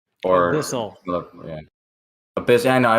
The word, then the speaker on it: abyssal: The abysmal plains, right? Or abyssal. Yeah. Abyss. I know. I always say it wrong. Thanks, The abysmal. Geo laughed at me. Abyssal, like the abyss, like a deep abyss.